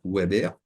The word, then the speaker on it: Weber: le web en français peut-être ça se prononce Weber ok W BB r